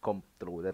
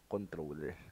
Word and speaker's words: comptroller: Actually, ang tawag ko dati dito is comptroller kasi alam ko merong spelling siya na minsan COMP tapos troller. Yun pala, ang pronunciation din talaga dapat na is controller.